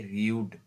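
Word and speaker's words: rude: यहाँ पे ऐसा नहीं कि रड पढ़ देंगे, आर यू डी ई, रड, ऐसा नहीं है। इसको हम लॉन्ग यू प्रोनाउंस करेंगे, रियूड, रियूड, है ना, रियूड।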